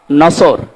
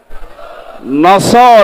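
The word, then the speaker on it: نصر: এই সূরাটা পড়তে গিয়ে সওয়াদ না বলে সিন দিয়ে উচ্চারণ করেন আপনার কিন্তু নামাজ হবে না কারণ নামাজ ভাঙ্গার কারণ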